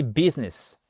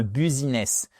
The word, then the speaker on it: business: to plan to start business. Plan, prévoir. On est en plein dans l'objectif. Parfait. Et business, OK. To start. Et business, c'est pas un buziness. Business, accentuation sur la première syllabe.